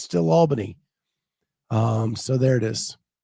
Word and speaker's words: Albany: Um, Scott, thank you for pronouncing it correctly. Everybody started saying it the other way. I have My aunt lives in upstate New York. It has been Albany my entire life. I was wild when people started pronouncing it differently.